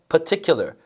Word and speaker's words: particular: 근데 발음이 참 어렵습니다. 말하기 시험인데 particular가 아니라요. particular, par 같은 경우는 그냥 살짝 이렇게밖에 발음이 안 돼요. 그러면 par가 아니라 particular, particular, 오케이? particular 이렇게 강세 주시고 사용을 하시면 되겠습니다.